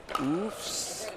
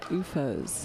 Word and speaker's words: UFOs: Is it Oofs? It is UFOs.